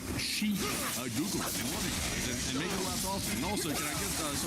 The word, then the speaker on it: Xi: And Michael said, "Daily watcher and finally got in live and willing to pay $100." I forgot to correct how you pronounce the name of the Chinese dictator. Uh G is pronounced like she Google and make it last.